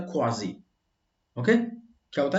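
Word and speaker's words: quasi: और उस व्यक्ति को क्वासी, क्वासी का मतलब होता है लगभग, लगभग एग्जैक्टली इसका प्रोनाउंसिएशन होता है क्वाजी।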